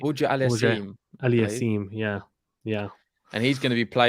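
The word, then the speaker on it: Auger-Aliassime: I always get his name wrong. I need to say it right. Auger Aliassime.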